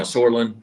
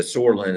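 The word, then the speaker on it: psoralen: So that P is silent.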